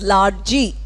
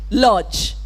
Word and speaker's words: lodge: A word like lodge, very often mispronounced as largy. Largy, if I'm speaking Telugu, no problem. But English, when I'm pronouncing lodge.